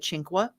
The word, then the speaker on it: Cinque: it she'll call it cinqua yes yeah they do the Italian pronunciation because it means five in Italian but we americanize it so I'm gonna have